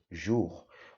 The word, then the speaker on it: jour: Y la J, la O y la U también un solo sonido, jour.